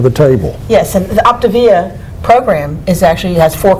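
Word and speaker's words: Optavia: camera and tell them the name because i've mispronounced it it's called optivia yeah o p t a v i a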